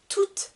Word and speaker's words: toute: tout avec le nom attention pour la prononciation ici je ne vais pas entendre le thé tout le monde par contre pour le féminin je vais entendre tout toute la famille je continue avec le